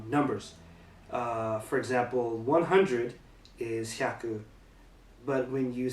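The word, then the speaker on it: 百: For example, 100 is hyaku, but when you say like 300, it's not san hyaku, it's san byaku, and the pronunciation of the kanji changes.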